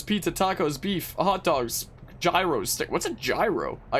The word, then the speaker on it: gyro: It's pronounced gyro, and it's like a Greek taco.